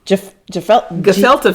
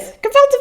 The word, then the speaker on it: gefilte: I was thought because that G's pronounced hard.